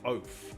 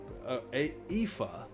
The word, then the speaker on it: Aoife: I'm going to say oaf. Aof. Which means Aoife. Are you kidding me? That's Aoife.